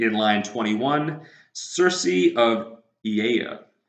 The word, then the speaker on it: Aeaea: A-E-A-E-A. That is a word that you will see here. All vowels, and it's pronounced Aeaea. Aeaea. Just think about like Lil Jon and what he says in the song.